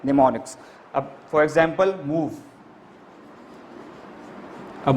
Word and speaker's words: mnemonics: In mnemonics spelling M is silent. So that's why we will say mnemonics.